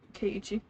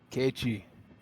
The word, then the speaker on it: Keiichi: Keiichi. Keiichi.